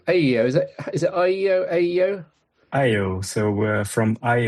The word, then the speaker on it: Eyeo: Is it Aeyeo Aeyeo? Aeyeo. So from eye opening because essentially we let the sensor see more. So it's eye opening Aeyeo.